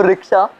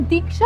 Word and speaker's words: दीक्षा: तो रिक्शा, तुम यहाँ आई क्यों? एक मिनट, तुम मुझे रिक्शा क्यों बुलाते हो? मेरा नाम दीक्षा है।